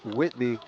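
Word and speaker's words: Whiby: John Castillo says number 0 on Walkersville is pronounced Whitby. Thanks so much, John. Our copy of the roster, there's no T in there.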